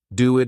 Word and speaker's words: do it: Do it is pronounced as do it. So we kind of have this extra letter W between the two words.